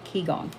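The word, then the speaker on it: qigong: I knew I knew keong is spelled Qi g o n g so the first word is Qi the second word is g o n g keyong um learning how to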